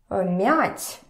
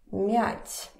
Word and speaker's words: мять: is pretty important because we have several words, and actually a lot of words, that depend on how you pronounce them. For example, the word mother, mat, and the word, I don't know, мять, to crumble, мять.